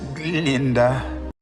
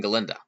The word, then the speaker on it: Galinda: goat Professor Dr Dilan cannot pronounce her name correctly yes Miss Glinda though Glinda has two blackes they along with the entire student body really don't serve any purpose other than supporting galinda yet I think the